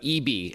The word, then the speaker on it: ibi: All right, without further ado, Anthony, now let's talk about Eebee, and it's spelled IBI from SanDisk.